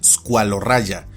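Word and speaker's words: Squaloraja: Esta debe pronunciarse como una y española o como una j anglosajona. Por ejemplo, este género se pronuncia y castellaniza como escualorraya.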